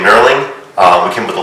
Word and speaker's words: knurling: It's Knurling. The K's silent, so it's not Knurling.